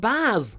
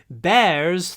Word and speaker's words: bears: Not Baz, no! Bears thrive in this environment.